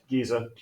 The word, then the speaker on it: Giza: a car wreck all right there you go Giza all right if anybody wants to go and